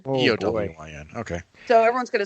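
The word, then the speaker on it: Éowyn: And you have doomed this child to have her name misspelled and mispronounced for the rest of her life. Yeah. I made the mistake. Just Aeowyn, right? No, Eowyn. Oh, Eowyn.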